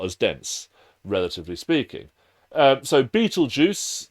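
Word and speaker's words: Betelgeuse: relatively speaking um so Beetle Juice that is how you pronounce that is an example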